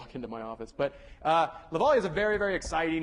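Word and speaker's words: Lovaglia: lecture class, he's like, Lavallia, my name is Lavallia. It's pronounced like, hopefully by the end of this class, I'll Lavallia.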